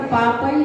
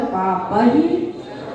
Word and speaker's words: पापैः: सर्व पापई जो बोल दिया, लेकिन विसर्ग नहीं आया। सर्व पाप ही, विसर्ग भी है, ऐ की मात्रा भी है, इसलिए इसका उच्चारण करेंगे सर्व पाप ही प्रमुच्यते।